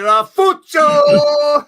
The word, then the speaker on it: Ralfuccio: Hey, you gotta say it right, Ralfuccio! Saving my voice. Gotta roll the R's, Mitch.